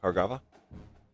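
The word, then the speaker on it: Bhargava: Bahargava. Hargava the B just silent you Hargava three star guard out of Minnesota.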